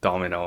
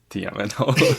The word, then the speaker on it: Dmno: So it's pronounced Domino and not D M N O.